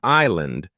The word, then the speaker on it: island: is not pronounced while in Island the S is silent many patterns of silent